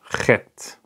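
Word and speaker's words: ח: It's the Chet. Chet. Let me just write it down before I explain it. chet. Chet. Okay. So how can you pronounce this letter?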